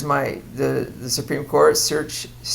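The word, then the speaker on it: certiorari: Um there's my the the Supreme Court searchari is how you pronounce that.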